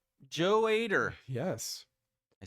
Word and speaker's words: Ader: Joe Ader. Yes. I said it right. There you go. I was going to say Adder, and then I said, no, that's not Adder.